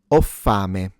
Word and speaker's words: ho: So o is I have already conjugated. Note that the h is mute. You don't pronounce it.